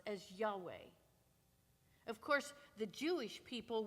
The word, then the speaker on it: Yahweh: The letters we pronounce as Yahweh.